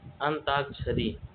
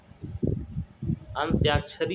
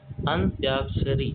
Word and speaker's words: अंत्याक्षरी: अंताक्षरी अंत्याक्षरी होता है। इसका सही उच्चारण अंत्याक्षरी जिसके समान कोई दूसरा ना हो वह कहलाता है।